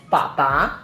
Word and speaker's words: 爸爸: And usually we pronounce it as 爸爸, mama.